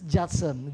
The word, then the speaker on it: Judson: just a youth son is it you son or Jetson it's Jetson Jetson Chuck Chuck this is